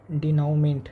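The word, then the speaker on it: dénouement: डिनमेंट। डिनोमेंट मतलब होता है उपसहनार या क्लाइमेक्स। इसका स्पेलिंग देख लेते हैं।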